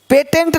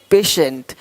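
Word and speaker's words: patient: कुछ है ही नहीं देखो पेशेंट पेटेंट नहीं पेशेंट पेटेंट पेशेंट पेटेंट पेशेंट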